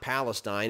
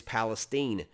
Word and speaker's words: Palestine: who's local and who's not is how they pronounce local words uh in texas it's not palestine it's palestine but somewhere in east texas maybe around palestine